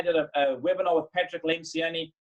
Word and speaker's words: Lencioni: a webinar with Patrick Lencioni or Lynch gionee I think he said pronounces it and and he said